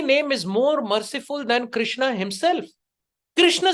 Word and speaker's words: कृष्ण: और कुछ लोग जप में हरे कृष्णा कृष्णा कृष्णा, कृष्णा तो द्रौपदी है, आप द्रौपदी का नाम का जाप कर रहे हैं। It should be Hare कृष्ण।